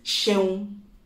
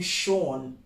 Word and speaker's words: Seun: you say it correctly now if your name is shown and he tries to call you Sean tell him Paul that's not my name at all and please if your